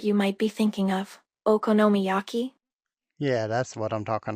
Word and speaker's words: okonomiyaki: well not that particular one I'm talking about okoma Yaki that's sounds delicious what is okam yaki I guess I said it wrong don't worry I think I know what you might be thinking of okonomiyaki yeah that's what I'm talking about oh I'm